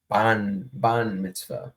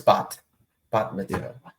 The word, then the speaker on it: bat mitzvah: he's at like his granddaughter's like ban mitzvah. I think that's Yeah, how you say it. Or is I it? think Kenny Albert's going to be doing game 1. No, it's bat mitzvah.